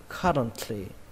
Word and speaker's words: currently: Nhưng mà khi đọc nhanh các bạn bỏ âm T luôn nhé. Không quan trọng đâu, các bạn bỏ luôn. Người ta vẫn hiểu được. Các bạn đọc là currently. Currently.